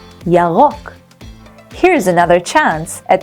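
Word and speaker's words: ירוק: And green in Hebrew is Yarok. Yarok. Here's another chance at pronouncing the R in Yarok. Remember to roll your tongue?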